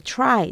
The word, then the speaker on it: try: tree 이런 것도 마찬가지. try 전부 T지만 추라고 발음이 되는 것은 뒤 R이 오고 그 다음에 이렇게 모음이 오기 때문입니다.